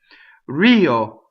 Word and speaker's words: rio: Rio. So it's a flipped R, right? And the accent is on the E, right?